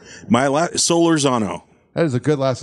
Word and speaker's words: Solorzano: do you say your last name my la solar Zano that is a good last name yeah thank